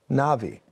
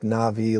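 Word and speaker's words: Nabi: Two, Navi. N-A-B-I. And it's pronounced like Navi, like the... There's a movie called Avatar, the Navi, but it's pronounced that way, but it's N-A-B-I.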